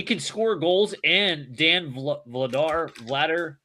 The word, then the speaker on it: Vladar: And Dan Vladar, I say Vladar, but it's like Vladar, I think is how you pronounce it.